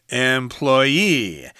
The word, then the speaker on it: employee: up myself employer-employee okay so if you're the person who works at a certain place then put that accent on the final syllable employee employer is the person